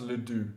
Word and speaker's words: Le Duc: Probably good pronounced Le Duc. You probably don't pronounce the C on the end.